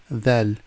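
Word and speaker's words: ذال: Dhal. And again, when you pronounce the letter dhal, put your tongue between your teeth and say dhal.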